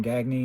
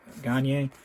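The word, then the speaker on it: Gagné: Some of them pronounce their name Gagne and some Gagne, hockey players.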